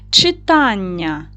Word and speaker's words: читання: Читання стоїть наголос на другий склад на а.